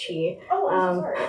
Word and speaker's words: Qi: Um a quick note that my last name is actually pronounced chi.